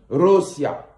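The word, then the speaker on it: Россия: En langue russe, on dit Rossiya.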